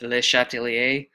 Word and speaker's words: Le Chatelier: and said, I don't even know how to pronounce this guy's names. So it's Le Chatelier.